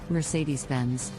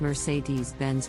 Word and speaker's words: Mercedes-Benz: a luxury German brand Mercedes-Benz the correct pronunciation is Mercedes-Benz with the emphasis on the second syllable of Mercedes and the first syllable offense many people mispronounce it as Mercedes Benz now let's move on